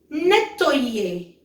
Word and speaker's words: nettoyer: And next is nettoyer.